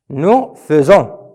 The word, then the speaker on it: faisons: Nous faisons. Ça s'écrit fait, mais ça prononce feu.